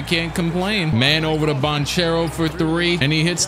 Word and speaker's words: Banchero: can we universally agree i heard that bonchero's name is actually pronounced bonkero yesterday can we universally agree